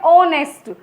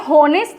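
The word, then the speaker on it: honest: ऑनेस्ट। ये हॉनेस्ट नहीं है, ये क्या है? ऑनेस्ट, ठीक है।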